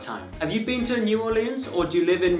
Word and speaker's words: New Orleans: That's how the locals pronounce it. It's one word, it's not New Orleans, it's like this, New Orleans. That's pretty much how they say it.